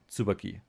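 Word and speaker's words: Tsubaki: But I'm pretty sure it is not Sububaki but Sububaki like the Japanese pronunciation.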